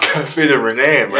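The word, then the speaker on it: René: How do you pronounce it? Cafe de Renee, my name, dude.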